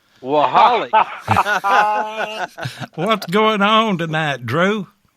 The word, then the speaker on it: Waholek: How do you pronounce that again? Waholek. Waholek.